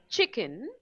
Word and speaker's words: chicken: For example, when we say chicken, we pronounce the first syllable che louder than kun, right?